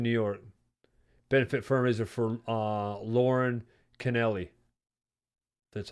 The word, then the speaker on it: Lauren Canelli: Benefit fundraiser for Lauren Canelli.